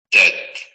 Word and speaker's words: tête: tête, tête, tête, Tête. tête, Vean cómo la pronunciación de la T es excesivamente nítida como en español.